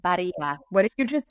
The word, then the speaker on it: Barilla: I just said Barilla. What did you just say? So the brand is Barilla is how you say it if you're American. But to me, it's just a bastardization of an Italian word.